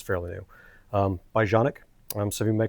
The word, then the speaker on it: Canik: Um, by Jeanic. Um, some of you may call it Canic. That's fine. I'm going to pronounce it the way it's pronounced, which is Janic.